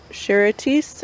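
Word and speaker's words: Charentais: It's either the Charitis, I think is how you say it. It's a French variety, or it's another French variety.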